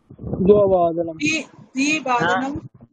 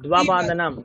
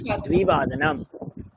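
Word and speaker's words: द्विवादनम्: পঞ্চবাদনমবাদন ষটবাদনম ষটবাদনমবাদনাম দ্বিবাদনাম হ্যাঁ নট দুবাদনাম কি বলেছিলাম হ্যাঁ দ্বিবাদনাম বাদনাম অষ্টবাদনামবাদনাম অষ্টবাদনাম হুম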